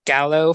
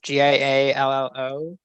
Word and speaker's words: giallo: He said it's inspired by, I'm gonna pronounce it wrong, Gallo films, Giallo.